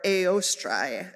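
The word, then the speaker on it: Ēostre: Oestra, or Eostrai is actually how it's pronounced in Old Germanic.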